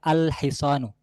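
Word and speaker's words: الحصان: যুক্ত করি তাহলে হবে আল হিসানু। আমার উচ্চারণটা লক্ষ্য করবেন কারণ এখানে লামগুলো উচ্চারণে আসতেছে, আল হিসানু, আল হিসানু লামটা উচ্চারণে আছে বা এটার শব্দটি উচ্চারিত হচ্ছে।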